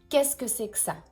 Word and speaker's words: qu'est-ce que c'est que ça: But, actually, mais en fait, on prononce qu'est-ce que c'est que ça? On avale beaucoup de choses ici. We swallow a lot of letters here, a lot of things.